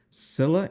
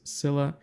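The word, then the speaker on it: Scylla: the New Frontiers there is a mission called Sila and cibus that's how you pronounce this Sila and caribdis and in this Mission you have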